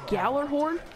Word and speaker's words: Gjallarhorn: comment is section below you pronounce it galler horn ya gotta run gotta